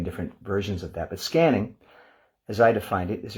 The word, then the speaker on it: SQANNING: for another session on scanning spelled s q a n n i n g uh just spelled with a Q to sort of distinguish it from the traditional spelling of scanning which uh if you